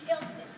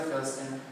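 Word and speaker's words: Philston: No, the P and the H combine to make an F sound.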